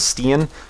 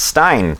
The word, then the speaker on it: Stein: He gave a donation to the tip jar before, and I mispronounced his name as Steen, but it's Stein.